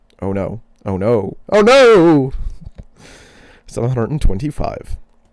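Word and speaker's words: Ono: The sons of Lad, Hadid, and On No, it's spelled literally O N O. Oh no.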